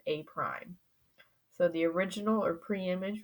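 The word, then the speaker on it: A′: be A with this little dash, which is pronounced A prime.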